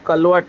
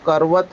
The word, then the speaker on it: करवत: जैसे बाबा जब कहते हैं कि काशी कलवट, अभी कलवट शब्द नहीं है, वो करवत है।